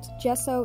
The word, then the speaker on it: gesso: is curious about it gesso is spelled with a g but said with a j go figure this squash